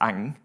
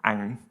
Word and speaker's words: Ang: If you have trouble pronouncing my name, it's Ang. And if you think about Joker, the enemy of Batman, with a big smiling face, you smile when you say it.